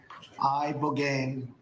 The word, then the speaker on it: ibogaine: Ibogaine. Remember the name. Is that pronounced relatively properly, would you say? Yes. I don't want to get it wrong. Ibogaine. Body. Ibogaine. Rogaine with an ibo.